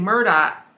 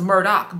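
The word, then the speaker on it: Murdaugh: so the murder but they pronounced the last name Murdock and now I thought it was Murdoch but it's Murdoch Murdock I guess whatever the H with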